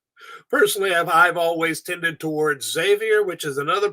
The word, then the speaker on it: Xavier: It's a name that gets pronounced differently in almost every country, but it's originally from the Basque language, and it would be pronounced Xavier. The X becomes an SH.